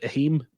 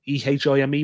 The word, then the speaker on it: Ehime: There was that governor that won it, like how do you pronounce it? Ehime, Ehime.